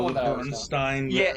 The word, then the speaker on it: Berenstain: Berenstain. Yeah, it's not Berenstein, it's Berenstain. Yeah. Berenstain is how it's spelled.